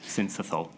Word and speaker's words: syncytial: I know it's a respiratory virus, and I can never pronounce the second. Syncytial.